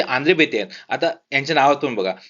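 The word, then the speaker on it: André Béteille: याचं नाव माहिती आहे आंध्रे बेते म्हणतात त्यांना जरी अस स्पेलिंग असलं तरी आंध्रे बेते आहे ठीक आहे तर हे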